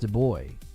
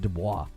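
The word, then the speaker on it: Du Bois: and it was pronounced de boy. De boys or something like that. It was pronounced something like that. It wasn't Dwis. I literally went to school with a guy and that was how you pronounce it.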